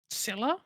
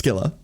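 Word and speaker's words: Scylla: Um, Silla. Wrong. but close. But yeah, that's the one. Yeah, it's Skila. There is no soft C in like in in in that language.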